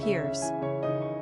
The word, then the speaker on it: Pierce: Pronunciation, Piers.